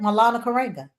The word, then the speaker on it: Maulana Karenga: Maulana Karenga.